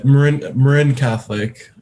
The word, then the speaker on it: Marin Catholic: your student athlete career yeah i mean uh marin catholic uh is how it's pronounced but uh but yeah um to